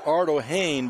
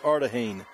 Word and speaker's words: Ardahane: But we've been pronouncing Reese Ardohane, but we're told it's Ardahane.